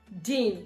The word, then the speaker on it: din: Dean. In English I'll spell it d i n.